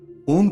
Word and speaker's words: ओम: का अर्थ है मका ओ ब्रह्मा का वाचक है जिसका उच्चारण हृदय द्वारा होता है उप विष्णु का वाचक है जिसका उच्चारण कंठ से होता है तथा मैं रुद्र का है जिसका उच्चारण तालू मध्य से किया जाता है ओम का